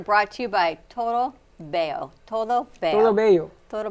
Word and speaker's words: bello: It's not an R. It's 2 Es L's.